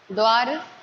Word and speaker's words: द्वारा: लेकिन जो आप द्वार बोल रहे हैं, एक जो वर्ड है उसको सही से प्रोनाउंस करना सीख लीजिए। द्वारा लिखा हुआ है, द्वारा, बाय।